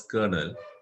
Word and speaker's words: colonel: We pronounce it as colonel.